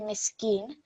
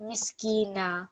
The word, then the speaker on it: مسكينا: So it's not going to be miskeen, it's not going to be sukoon, it will be miskina when you pause there, okay?